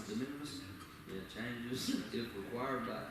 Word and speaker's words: de minimis: Approve the minus, how do you say that? De minimis. De minimis.